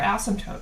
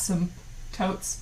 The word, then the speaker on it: asymptote: asymptotes so it's essentially the word um has a silent p oh i slightly say it as some totes but it's basically like a silent p asymptote and uh the dictionary or